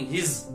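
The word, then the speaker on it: he's: तो इसको पढ़ेंगे हिज, जेड की प्रोनाउंसिएशन आएंगी। जो एस दिख रहा है आपको, ये जेड का आवाज देना है, हिज।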